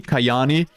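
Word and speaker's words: Kajaani: The first would be from his apartment in, uh, Kayani or is it Kajani? Kayani.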